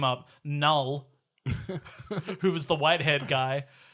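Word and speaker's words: Knull: So I don't know if he's Canal, or I'm going to assume the K is silent like on a knife.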